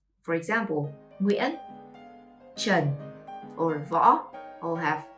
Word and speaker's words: Nguyễn: Number 1, the most common last name is Nguyễn. To pronounce this last name, you should start with the diphthongs in the middle, Y and E with a hat.